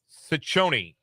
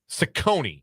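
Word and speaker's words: Cecconi: Slade Sichonyi, I think is how you say that name, is the starting pitcher for the Cleveland Guardians. I'm going to double check that. Sakonei, excuse me, and soft seas.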